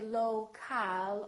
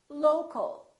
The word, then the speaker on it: local: For example, we stress the first syllable here, low, low, but we don't say local or local. We reduce the second syllable and it becomes the local, local.